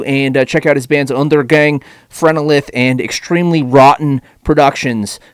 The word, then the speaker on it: Undergang: with spectrovoice you corrected me i was like under gang under gang and you said no it's undergang is that